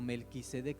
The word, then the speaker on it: Melquisedec: Había otro tipo de sacerdote, era Melquisedec, o Melquisedec se debe de pronunciar.